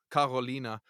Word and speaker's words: Carolina: quirky German girl there named Caroline or Carolina, as it would be said in German, Carolina.